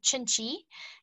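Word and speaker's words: Cinci: about to launch an entry-level brand it's called chinchi it's spelled c-i-n-c-i it means a little bit of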